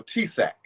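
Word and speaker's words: TSAHC: and you're doing a i don't know how the acronym is pronounced but it's t s a h ahc it's the texas um it's of the affordable housing acronym essentially for texas correct sure oh t-sac that's correct okay so t-sac affordable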